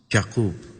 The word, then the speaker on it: Jakob: us as Prince Jakob pronounced Jakob as in Hebrew he had completed his